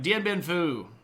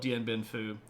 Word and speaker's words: Dien Bien Phu: All right, Dien Bien Phu, which is this particular... The photo here is from the fall of Dien Bien Phu, when the French forces inside of Vietnam are basically going to lose their junk.